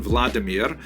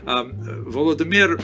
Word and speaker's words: Vladimir: is the conversion of one of its leaders pronounced in Russian Vladimir shown here in a statue overlooking the nipro river that runs through the middle of cave volodemir made a decision to convert to Christianity this